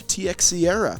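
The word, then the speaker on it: Teixeira: to that high on base number also Mark TX Sierra that's actually how you pronounce Mark to share his name truthfully and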